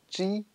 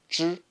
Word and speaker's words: zhi: Normalement, avec la règle en général, ça se prononce ji, mais là, ça prononce zhi, comme directement avec la prononciation du zhi, zh.